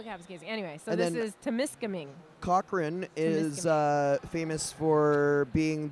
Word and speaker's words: Temiskaming: Can you pronounce that one with the T again? Temiskaming? Temiskaming.